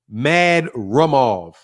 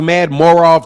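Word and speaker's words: Madrimov: an U uhu mad mad ROV yeah I thought it was mad morav too but it's not it's mad ROV Kamal Oz has got the the proper pronunciation mad ROV mad ROV but look I'm looking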